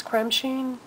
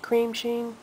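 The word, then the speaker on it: Cremesheen: Creme Sheen? Cream Sheen? Yeah. Cream Sheen. Creme Sheen. I've heard it pronounced both ways.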